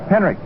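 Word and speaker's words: Henrich: Tommy Henrik. H E N R I C H. It pronounced as though there was a K on it. Henrik in right field.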